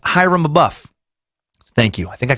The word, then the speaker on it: Abiff: pronunciation thing here um Abiff is pronounced Hyrum a buff thank you I think